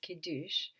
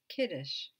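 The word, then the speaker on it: Kiddush: Sabbath begins with a ceremony which is called kidush or in yides it's pronounced kides typically on a Friday night the family will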